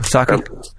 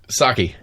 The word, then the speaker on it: Psaki: Saki. Yeah. Is it Saki? Really? Rice wine, bitches. That's it. It starts with a P, but I believe it's pronounced Saki.